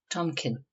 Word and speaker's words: tompion: This name is often pronounced as well as written Tomkin.